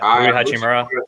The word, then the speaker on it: Hachimura: Hachimura, is that how you say it? I forgot. Hachimura.